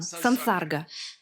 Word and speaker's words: sansarga: Сам по себе сам, а когда в сочетании с «с» меняется на «сан», произношение меняется на «сан», сансарга.